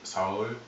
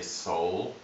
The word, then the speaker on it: Seoul: have more accurate pronunciation And even for the city Seoul, even in Spanish they say "See-yul" and in English we say "Soul" but even that is a little bit wrong So, "Seo-ul" "Seoul"...